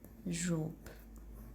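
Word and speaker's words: robe: तो इसके एंड पे भी ई है, तो ई को हम लोग प्रोनाउंस नहीं करेंगे, ठीक है। तो इसकी प्रोनाउंसिएशन होगी रोब, ओके।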